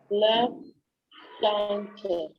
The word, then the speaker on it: plancher: Le plancher. Le plancher. Le Plancher. AN is to be pronounced as Le on. plancher. AN is to be pronounced as on. Oh. So it is le plancher.